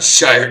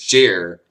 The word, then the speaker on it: shire: Not Shire, it's pronounced Sheer.